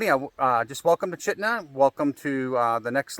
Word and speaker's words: Chitina: I know it looks like Chhatina, but it's pronounced Chitna.